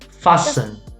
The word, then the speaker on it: fasten: we say listen listen hustle hustle fasten christmas yeah yeah so the t is silent st st also